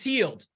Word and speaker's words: Hield: It's like yield, it's healed.